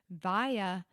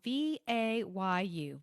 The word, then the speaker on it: Vayu: Vaya, it's spelled V-A-Y-U.